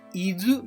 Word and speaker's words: 伊豆: 思っていますこの伊豆という地名にも豆という漢字が使われていますそして図と読みます豆を使った言葉